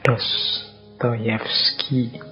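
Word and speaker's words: Dostoevsky: kurang lebih seperti itu Kalau tulisannya kadang-kadang Ada yang mengecanya dostoevski tapi membacanya biasanya Ya seperti tadi dostoyevski baik beliau ini filosuf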